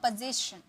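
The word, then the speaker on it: position: means पोजीशन ठीक है ज इसका साउंड आएगा पोजीशन पोजीशन ओके गाली देना इसका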